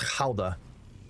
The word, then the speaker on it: Gouda: It's actually pronounced Gouda if you're in the Netherlands, but hey.